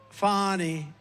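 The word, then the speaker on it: Fani: Has anybody Fanny It's pronounced. Fanny. f. a knee.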